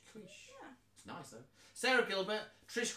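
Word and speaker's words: Keusch: Is it Kush? Kush? Kush? K-E-U-C. K-E-U-S-C-H. Kush.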